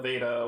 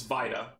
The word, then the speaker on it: Vita: names on here and I've seen it pronounced Vita Veda whatever it's Vita because it's short for vitality and that's your health so let's buy it